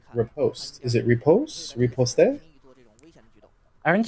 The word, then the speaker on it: riposte: Okay, so you have to say like you have to say rice. So the first syllable is ri, like ri.